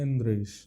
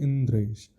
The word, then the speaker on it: इंद्रेश: अब आपका नाम है, मेरा नाम है इंद्रेश, उसका शुद्ध प्रोनाउंसिएशन होना चाहिए इंद्रेश। अब कोई बोले इंदरेश, और मेरे को बार बार इसी भाव से बोल इंदरेश, मैं भी कहूँगा अरे यार ठीक से बोलो ना, इंद्रेश नाम है हमारा।